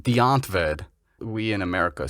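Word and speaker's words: Die Antwoord: uh what's their name again well they're it's pronounced deontved we in america say die ant word so this this group from south africa super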